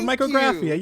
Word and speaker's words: Micrographia: you did a good job there you go micr graphia yes you got I'm proud of you the